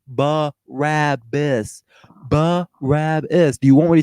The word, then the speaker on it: Barabbas: But yeah, that I didn't say anything about where Barabbas is from, and it's not Parabolas, however you're pronouncing it. It's Barabbas.